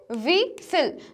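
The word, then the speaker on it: whistle: Similarly जो हमारा next word है विसिल, तो विसिल में हम क्या पढ़ते हैं, विसिल। जो टी है, टी हमारा साइलेंट रहता है, तो हमारा साइलेंट लेटर यहाँ विसिल में है टी और बैले में है टी।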